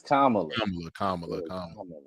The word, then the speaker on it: Kamala: Was it Is it Kamla or or Kamala? Kamla. It's Kamla.